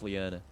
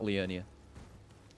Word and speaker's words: Liurnia: of lyanna a leonia i always say it wrong i i've actually been pretty good about it today but i always think it's leona and not leonia and we're back here